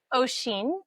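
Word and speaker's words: Oisín: It's O'Sheen. O'Sheen. Ocean.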